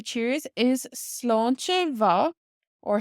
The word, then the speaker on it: sláinte mhath: Now another way to say cheers is sláinte mhath or sláinte wa. So this MH in ma can be pronounced like a W in Connacht and Ulster or like a V sound in Munster. So sláinte mhath or sláinte wa.